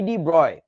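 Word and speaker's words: de Broglie: ভদ্রলোক নাম হচ্ছে লুই ডি ব্রয় মানে ইংরেজিতে বানানটা এরকম ডি sorry ডি ব্রগলি বি আর ও জি এল আই ই তবে উচ্চারণটা ডি ব্রয় সো লুই ডি ব্রয়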